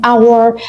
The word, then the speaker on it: hour: هنا احنا الكلمة نفسها بتبدأ بحرف ال H، لكن لما بتيجي تقولها أو تنطقها فأنت بتقول الفويس نفسه بتاع حرف ال O، فبالتالي this is a vowel sound.